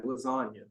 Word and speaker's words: lasagna: Real G's move in silence like lasagna. That is Lil Wayne. He says that because the G in lasagna is silent.